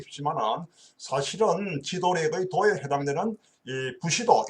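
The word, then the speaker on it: 武士道: 사실은 지도력의 도에 해당되는 부시도 일본 발음으로 부시도라고 하죠 어 무사도를 갖추어야만이 참된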